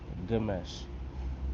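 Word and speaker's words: ግማሽ: So you they even say kilo or how do you say half? It's good mesh. Gomesh mesh kilo. Good mesh kilo.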